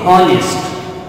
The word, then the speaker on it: honest: As we cannot pronounce the word honest as honest, the H is silent here.